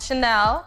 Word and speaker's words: Chanel: And Chanel, And Chanel. which rhymes with Vanel.